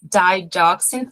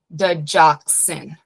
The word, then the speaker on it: digoxin: Vocês podem ouvir tanto mais digoxin ou mais aquele schwa, digoxin, ok?